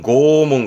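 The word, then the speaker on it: 拷問: 이거는 이거면 됩니다 고문 고문이 뭐냐면 발음은 고몽 그런데 고몽은 쓸 일은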